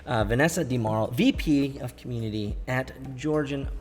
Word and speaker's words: DiMauro: A great conversation with Vanessa DiMauro. Rhymes with tomorrow, she said. Vanessa DiMauro, VP of Community at Georgian Partners.